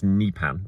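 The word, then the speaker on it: Nypan: I heard, and I did check it out, and I listened to a Norwegian saying it as Nipan, but I know a lot of people have been saying Nipan, so we'll see.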